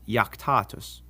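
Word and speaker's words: iactatus: If a word begins with an I and the next letter is a vowel, like in these words, it's actually a consonant and sounds like our Y. So these are pronounced yam, yuno, and yaktatus.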